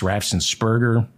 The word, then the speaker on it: Raffensperger: The infamous January 2nd, 2021 call to Georgia's Secretary of State Brad Raffensperger, I mispronounce his name. I think it's Raffensperger.